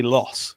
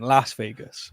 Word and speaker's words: Las Vegas: was in Las Vegas I deliberately didn't say loss because that feels British I went Las Vegas what what do you